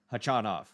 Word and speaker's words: Khachanov: I'll pronounce it correctly for once in my life. Hachanov. Although there's something in me that just wants to say Karen because Hatchenov is just easier for me to say.